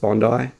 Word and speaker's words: Bondi: Um, Bondi, it's pronounced Bondi.